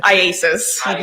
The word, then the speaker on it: IACIS: Can we call it ISIS? Yes. How do you say it? IASIS. Yeah, no, don't All call it right.